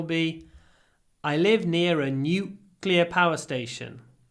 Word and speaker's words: nuclear: It's only NU, but it's 4 sounds. It's NU is N, Y, W, nuclear, nuclear. Nuclear weapons. Make it long. Nuclear weapons. Не просто nuclear. Nuclear. Look at my lips.